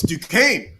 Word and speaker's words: Duquesne: I can't even pronounce that. Oh, it's Duquesne, Yeah.